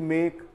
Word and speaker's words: make: Verb लेंगे, मेक, MAKE मेक, टेक, TAKE टेक, तो इसमें वर्ड्स में भी गिव, GIVE गिव यानी देना, मेक यानी बनाना, टेक यानी लेना, ये वो वर्ड्स हैं जिसमें ई का उच्चारण नहीं होता।